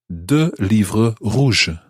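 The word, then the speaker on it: rouges: j-a-u-n-e-s john and the same happens with roger roger r-o-u-g-e-s this time in the feminine r-o-u-g-e r-o-u-g-e-s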